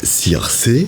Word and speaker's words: Circé: Votre premier album est un événement et il s'appelle Circé. C'est juste comme je prononce.